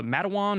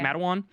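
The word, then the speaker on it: Matewan: we watched called uh Madawan Or is that how you say it? Madan. Yeah. And that's like mate one.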